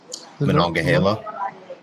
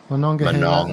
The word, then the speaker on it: Monongahela: As you say, I can't pronounce that river. What is it again? Monongahela. Monongahela.